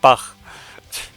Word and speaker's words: Bach: Uh, I, I'm back, but I'm not Bach. And the fact that CH is pronounced very differently in German is giving me a lot of mileage right now.